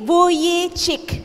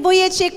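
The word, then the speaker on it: Vujicic: butiki Joke lang po Nick buyi chik Ayan po ang tamang pronunciation si Nick buy chik po He was born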